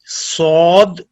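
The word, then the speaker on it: صاد: Sod, pronounced as sod, tip of the tongue comes between the front top and bottom teeth.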